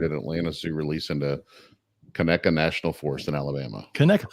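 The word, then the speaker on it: Conecuh: and the guy goes, "How do you pronounce this? Conka?" And my whole That's time, the guy who does that on every region's food. No, this was a different guy. He just didn't know how to pronounce it. And I'm sitting there yelling at my phone, it's Kaneka, motherfucker, and it tastes good.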